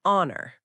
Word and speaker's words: honor: So, even though honor starts with H, it has a vowel sound. So, you say an honor. Ah, yeah, that one can be tricky because the letter H is a consonant, but honor sounds like it starts with a vowel.